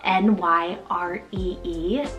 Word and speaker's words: Nyree: Nyree, spelled N-Y-R-E-E, Nyree.